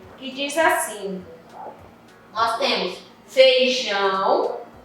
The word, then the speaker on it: feijão: Para vocês observarem que quando eu falo, eu digo assim, eu digo feijão, não, eu digo feijão. Eu não pronuncio o I.